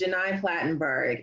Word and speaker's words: Gheni Platenburg: I understand it's not the easiest name to pronounce but it is Jenai platenburg and I teach journalism and so you know